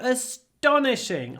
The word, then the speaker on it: astonishing: astonishing I was astonished just listen very carefully to how I stress this word astonishing it was astonishing I don't do a big I do astonishing I do a big pause before the T but I don't say t I say like Russian with no aspiration because after s t is not aspirated so it sounds a